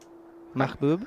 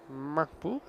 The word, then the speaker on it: Mahbub: He was giving me, while I was over there, some expert coaching in how to pronounce his name. So, Mansoor. Mahbub. Hope you have a good one. Yeah, Mahbub.